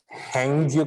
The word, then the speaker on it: Hague: ये world code जो है ये हैंगजू करके एक लोकेशन है नॉर्थर्न लैंड में। नॉर्थर्न लैंड का हैंगे में है, HAGUE, ठीक है। इसका प्रोनाउंसिएशन हम लोग करेंगे हैंग, HAGUE।